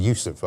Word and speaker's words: Yousaf: He would say it's Humza Yousaf. I just pronounced it differently.